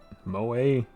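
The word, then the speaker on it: 萌え: It's pronounced moe, because the E is pronounced like an A sound. That's why you get like sake, right? Ends with the E. Makes an A sound in Japanese.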